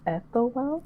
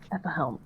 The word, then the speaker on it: Ethelhelm: Yeah, and Ariel, would lean over to, I'm gonna get his name wrong, Ethelwell? At the helm, yep. Ethelhelm, so close.